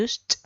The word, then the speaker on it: used: Recuerden que la pronunciación de un verbo en pasado, sea cual sea su categoría, se elimina la ed y se reemplaza por una t al final. I used, ¿ya?